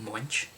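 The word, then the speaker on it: Moench: interviews with uh doug munch that's how you pronounce his last name munch and it's a bonus guess what take a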